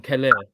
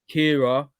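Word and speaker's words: Kehrer: But I call him Keller. I think I pronounce it Kira. Keller is the man. You Play, more of a yeah, I'm just like, yeah, no, it's like Kira, mate. Tilo Kira.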